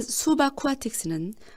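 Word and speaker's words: Subaquatiques: S 수바쿠아틱스는 우리말로 수중을 의미합니다.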